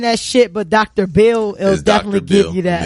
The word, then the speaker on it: B. Hill: Dr. Bill with the H is silent and Dr.